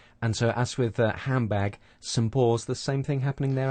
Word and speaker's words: St. Paul's: First of all, instead of saying saint with a strong pronunciation, we're using the weak form, sunt, and then we have a n sound and a t sound and the p sound at the beginning of Paul's.